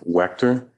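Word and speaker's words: Waechter: It's spelled for the stenographer. Sure. Wer.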